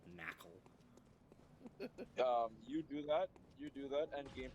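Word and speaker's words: Nacli: Not NaCl, though. Yes, it is. Yes, actually, it is spelled quite literally NaCl.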